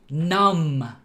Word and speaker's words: numb: When a word ends in MB, nothing else, just MB, normally the B is silent. Crumb, thumb, numb.